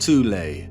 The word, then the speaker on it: Thule: an occult secret society within germany called the thol society sometimes alternatively pronounced tule that had sub-factions within it one of these